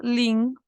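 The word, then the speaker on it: 零: cero al 10 en chino cero se dice link y se escribe en chino así o se escribe así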